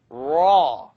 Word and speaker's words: ر: Raw. The issue here is I don't want you to O your mouth. I'd rather you not do this. Raw. Don't use your lips to pronounce raw.